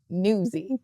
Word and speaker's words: Nuzzi: For our listeners, it's Nuzzi, but it sounds like Newsy.